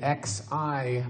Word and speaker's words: Xi: First name, X-I, pronounced Xi.